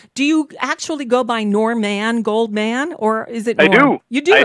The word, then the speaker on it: Norman Goldman: and people would say, I'd say my name, Norman Goldman, and they'd say, Warren Moldman? And I never got them to say my name back. And I'd say, no, not Warren. Warren Moldman is not even a name. How could you think I'd be that name?